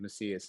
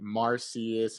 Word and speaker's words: Macias: My last name is Macias, and so I get Marcius, Machias, Messiah. I'm just The struggle.